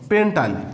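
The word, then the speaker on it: pentyl: তো পেন্টের সাথে যখন আমরা আইল যোগ করব, তখন আমাদের উচ্চারণটা হবে হলো পেন্টাইল।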